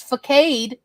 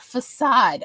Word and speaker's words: facade: for the longest time I thought the word was facade not facade I didn't it was a revelation to me of like oh oh it's pronounced facade I thought it was facade like motorcade for real because I'd only